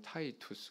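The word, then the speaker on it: Titus: 영어 발음은 타이투스 그러죠. 디도가 타이투스예요.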